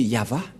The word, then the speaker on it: Yahvah: droite à gauche mais la vraie lecture de ce terme c'est yava je vais vous apprendre